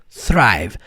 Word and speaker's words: thrive: Pô, já é difícil fazer o som do th agora com R. Thri. Repete aí pr você aprender essa parada. Não dá pr aprender a pronunciar só ouvindo. Thrive.